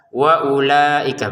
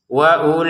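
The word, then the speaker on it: وأولئك: kemudian ada wawu yang biasanya dibaca dengan panjang, sekarang tidak panjang. Bahkan dibaca pendek. Kenapa? Karena di atasnya wawu ada bulatan kecil kayak gini ya. Bulatan kecil ini meniadakan panjang. Meniadakan panjangnya sehingga kita bacanya langsung saja wa ulaika begitu ya.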